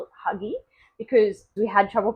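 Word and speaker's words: hygge: across by accident a few years ago called Huga and it's spelled h y g g e and I must give you a bit of a warning here because my friends and I call it Huggy because we had trouble pronouncing Huga but also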